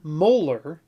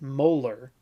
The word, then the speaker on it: molar: concentration unit is constructed one molar which is how you say the unit molarity you say it molar is one mole of